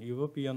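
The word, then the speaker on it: European: শিক্ষার্থী বন্ধুরা ইউরোপিয়ান অর্থাৎ আপনারা যখন ইউরোপিয়ান উচ্চারণ করবেন তখন দীর্ঘ ইউ এর মত কিন্তু এসেছে তাই না দীর্ঘ ইউ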